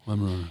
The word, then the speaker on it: Weimaraner: Weimaraner.